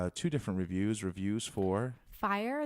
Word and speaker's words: Fyre: different reviews reviews for fire the documentary on Netflix and it's spelled f yr e and it's about that